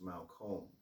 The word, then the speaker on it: Malcolm: on the internet so malcolm is actually pronounced malcolm and it's scottish my last name is